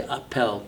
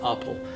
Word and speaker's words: Appel: For example, here we have a work from 1963 by Carl Appel or some would say Appel, but uh he was Dutch and the pronunciation is Appel.